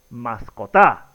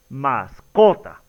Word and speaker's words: mascota: Si jugamos diríamos, la pronunciación correcta es mascota, la pronunciación correcta es mascota o la pronunciación correcta es mascotá. Exactamente como ustedes ya lo habrán identificado, la pronunciación correcta es mascota.